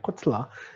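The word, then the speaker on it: קָטְלָה: 요거 카메 차투브입니다. 주의하십시오. 코틀라라고 발음해요. 코틀라. 이게 카메 차투브 단모음이면은 당연히 쉐바는 묵음 쉐바가 되죠. 코틀라.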